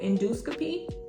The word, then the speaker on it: endoscopy: if you were to keep both O's how would you pronounce that Endo endoscopy that doesn't sound right so we dro the o to get endoscopy let's do one more